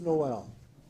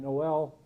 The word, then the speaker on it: Noel: a French carol, and Noel, spelled N-O-E-L, half of them have it as an English carol, and they spell it sometimes N-O-W-E-L-L.